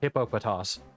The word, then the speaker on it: Hippopotas: Like I'm going to call it Hopatas even though it's correct pronunciation is uh Hippopotas cuz Hippopotas is funner